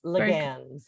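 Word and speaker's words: Laguens: And I have to introduce you to Don Laguenes. Am I saying it right? It's unacceptable if I don't, so you correct me. No, very, very close. Laguenes.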